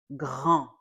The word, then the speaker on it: grand: The second word is grand. One more time. Grand. There's a D at the end. We do not pronounce that D.